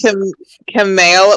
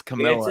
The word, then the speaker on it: Kamala: It's Camilla. It's Everybody mispronounces it. inevitable. You're like Camela, but it's like Camilla.